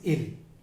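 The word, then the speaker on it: ils: Third person plural masculine इज इल. मैं एस को अभी प्रोनाउंस नहीं कर रहा हूँ, लेकिन अभी थोड़ी देर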